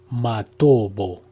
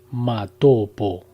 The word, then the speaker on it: Matobo: de las piedras redondas, Matobo, pronunciado erróneamente Matopo, en Zimbabue.